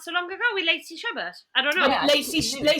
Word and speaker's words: Chabert: Lacey Chabert.